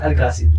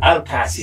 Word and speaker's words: Alcasid: How do you pronounce it properly ba? Zach Alcacid. Alcacid.